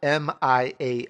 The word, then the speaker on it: Mian: gonna spell it out m.i.a n that's how you say Mia the NS silent that's mi a n